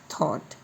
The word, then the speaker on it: thought: फिर है THOUGHT, यहाँ पर G और H का उच्चारण हम नहीं पढ़ते, इसको पढ़ेंगे थॉट।